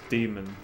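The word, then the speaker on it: dæmon: beginning of the book diana is pronounced demon yeah but I choose Damon I just think it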